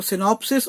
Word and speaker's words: synopsis: alumni और alumnus था, तो सिनॉप्सिस और सिनॉप्सिस बोलने में एक जैसे है, सिंगुलर और प्लूरल में,